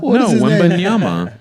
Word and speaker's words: Wembanyama: I want to get piped by Victor Wembanyama. Is that his name? Vinnie Wembanyama? What's his name? Yeah, you're saying it right, I think. No, Wembanyama.